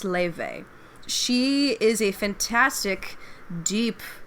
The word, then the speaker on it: Laufey: It's spelled like Lofi or Laufey, but it's pronounced Leve.